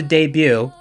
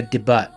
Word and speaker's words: debut: A new song is about to debut. Or if you don't believe in silent letters, it's gonna debut.